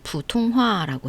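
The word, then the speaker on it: 普通话: 그걸 보통화라고 하고 중국어 발음으로는 부통화라고 해요.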